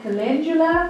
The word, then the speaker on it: calendula: It's got calendula flowers, like calendula, that's how you say it, calendula flowers, and everything's organic, and it's got a white willow bark.